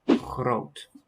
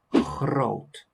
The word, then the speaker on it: groot: So for my pronunciation, I've chosen the g for the G and the r for the R. So I say groot. But I could have also chosen the other pronunciation of both letters, which would make another sound, but obviously with the same meaning. I could have said groot.